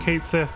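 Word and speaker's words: Cait Sith: two and said that it's going to be pronounced Kate Sith and not K she or something else and it's just like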